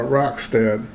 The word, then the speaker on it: Rockstead: the hego i believe i've been told to pronounce it uh roxted and uh this should